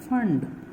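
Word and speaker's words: Pfund: seen passion bracket and fund p is silent these people also they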